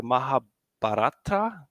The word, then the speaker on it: Mahabharata: you have to corre correct me how to pronounce this the mahab batra yeah yeah that's right chatot with graph rag